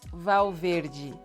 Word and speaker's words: Valverde: Another actress, Isis Valverde. Isis Valverde. Verde. Valverde. So you have the L before a consonant sounding like W as well, and you have the E sounding like E at the end. Valverde.